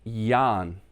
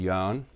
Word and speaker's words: Jørgen: Now, that is pronounced Jan. My mom would say Jan in Danish. Okay? So, it equals probably close to Y-A-H-N over here, or Y-A-N.